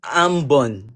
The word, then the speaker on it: Ambon: Wait, is it Ambon or Abum? Ambon.